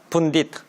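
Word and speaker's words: pundit: 분딧 이렇게 발음하니까 아시겠죠?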